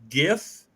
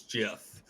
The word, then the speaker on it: GIF: the controversy I am firmly in the belief that it is gif because it is a graphics interface something another but the G word is Graphics so good gif but the creator of gifts says it's Jeff so does he can't